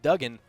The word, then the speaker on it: Dugan: have the same thing so my last name is d g an everybody says Dugan It's actually pronounced dougen and then all 100%